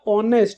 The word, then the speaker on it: honest: कैसे, जैसे मैंने बोला HONEST, इसको अपन बोलते हैं बेटा ऑनेस्ट, क्योंकि इसमें एच साइलेंट है, तो इसको हम ऑनेस्ट पढ़ते हैं।